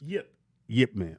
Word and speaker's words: Ip Man: The Ip Mans. It's IP Man, but it's actually pronounced Yip Man, or Ip, whatever it is.